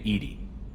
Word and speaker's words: EDI: airlock is a jar why are you named Ed Ed is the phonetic pronunciation of Ed di that is an acronym